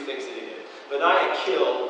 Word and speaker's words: Benaiah: And you don't need to worry about, his name, but it's Benaiah. Okay, and that's how I'm going to say his name, is Benaiah.